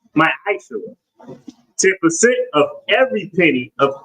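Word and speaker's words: מַעֲשֵׂר: Means 10th in the Hebrew, and it's pronounced ma'aseh.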